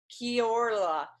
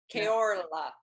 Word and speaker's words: Kia ora: Kia ora. Because you rolled your L, your R. Yeah, you try to roll your R if you can. Kia ora.